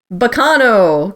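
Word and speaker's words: Baccano: funny but on purpose bacano because that's how you would actually say that word in italian correct um yep and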